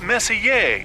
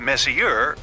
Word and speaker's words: Messier: Pronounced Messier, not Messier, as in is your room messier than mine?